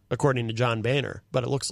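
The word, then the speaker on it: Boehner: Coburn yes what's this like how do you pronounce boah NER is this one of those uh Three Stooges no Bainer according to John Bainer but it looks like something else Oh the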